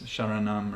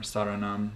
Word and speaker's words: Sharanam: That's Sharanam or Saranam, as Swamiji pronounces it without the H in the front.